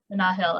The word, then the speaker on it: Nahil: to just say quickly i did receive a very gracious correction of mana hill's name um the poet's name in kanye's bio that i mispronounced their first name uh nahil i did not receive